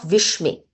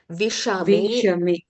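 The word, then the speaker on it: विषमे: It is not Vishme. It is Visha. You have to pronounce Sha as fully. Vishame.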